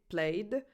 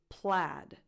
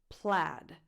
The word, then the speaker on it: plaid: The correct English pronunciation of this word is plaid. Plaid, with the same vowel that you have in the word bad.